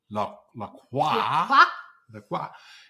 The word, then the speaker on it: La Croix: Because one of the ones we sell, which is very, very popular, and it's pronounced La Croix, is so popular, and it has been, this is probably the 3rd or 4th go at making seltzer with essence.